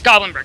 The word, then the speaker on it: Goblinberg: Yes, Goblinberg.